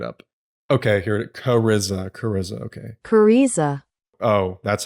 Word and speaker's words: Kariza: Cariza, okay. Cariza. Oh, that's how you pronounce it. Cariza. Damn it, I was gonna make a Riz joke. Cariza herself is another draw.